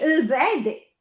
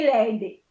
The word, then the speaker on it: vede: Me vede. Non dico me lede.